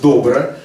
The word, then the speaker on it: добро: очень простой американский инструмент который называется добро ударение на Первом слоге Потому что когда Андрей